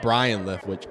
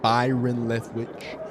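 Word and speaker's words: Byron Leftwich: Oh, Brian uh Byron Leftwitch. I apologize. I said his name wrong. I watched too much Family Guy. I called him Brian Lewitch. Byron Lethwitch, Super Bowl champion, new quarterback coach for the Buffalo Buffaloos.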